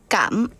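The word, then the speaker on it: cảm ơn: Can you teach me the proper 발음 for 감은? 감은.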